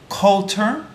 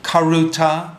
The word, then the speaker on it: karuta: you know this one in Japanese they pronounce it Coulter sorry that's wrong so I never learned how to say the liquid consonant and Japanese right karuta kalota sorry its grab the card